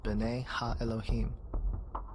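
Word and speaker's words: בני האלהים: of God mentioned here in the Hebrew is pronounced Bena Elohim the Septuagint which is the Greek translation of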